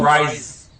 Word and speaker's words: Rhys: Oh, Rhys. I think it's Rhys. R-H-Y-S.